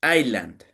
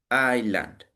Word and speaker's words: island: So, some feedback about pronunciation. Island. We don't pronounce this. Island.